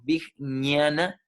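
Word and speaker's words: vijñāna: al cuerpo físico sabiduría big nana la pronunciación constituye una g principalmente cuesta mucho pronunciarlo es como bic ni ana virginia na maya cosa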